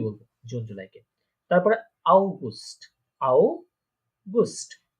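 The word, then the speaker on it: August: আউগুস্ট, অগাস্ট যেটা আমরা বলি ইংলিশে সেটা আউগুস্ট, ঠিক আছে?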